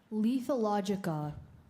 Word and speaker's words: lethologica: Lethologica. Lethologica. Yes, you're pronouncing it correctly.